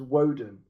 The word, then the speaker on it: Woden: Anglo-Saxon way of saying Odin dipshit. It's why you call him Wednesday Woden. because his name is Woden. Woden. Be more like fucking Woden. cultured. That's how you say it. Woden. It's Odin. It's Don't not even Odin. try. That's why and they call him fucking- Wednesday because it's Woden in Anglo-Saxon. It doesn't matter.